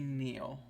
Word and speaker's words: Nial: You can call me Neil. Neil? Like Neil Peart? It's spelled Nial, but pronounced Oh. Neil.